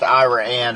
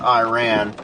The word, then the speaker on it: Iraan: Apparently, it's pronounced Iraanne and not Iran.